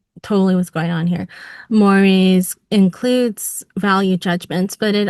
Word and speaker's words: mores: Um, his focus, and this is part of what makes him timeless, is on what's called mores and mores' relationship to politics. Mores is pronounced like more eel.